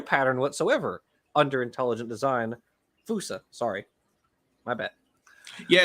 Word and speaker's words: fossa: Fusa, sorry. My bad. Yeah, it's spelled fossa, but it's pronounced fusa.